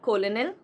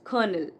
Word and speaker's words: colonel: It's not colonel. No, it's colonel. Colonel.